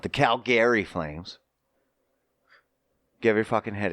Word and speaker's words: Calgary: Calgary. Or some pronounce it Calgary. That's not how it's pronounced. But anyway, if you ask actual Calgarians, that's funny. Calgarians. But Calgary? No. It's Calgary.